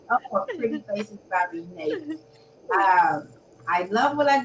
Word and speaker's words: Renee: Renate, Renee?